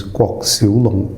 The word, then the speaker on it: Kwok Siu Long: Well, so that's the Mandarin pronunciation. Yeah. So the Cantonese pronunciation is KWOK Siu Long.